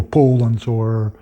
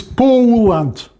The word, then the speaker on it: Poland: Well, I'm sort of trying to exaggerate a bit, but because if you pronounce it like most Russians do, Poland, then of course for everyone with an English ear it will sound like Holland.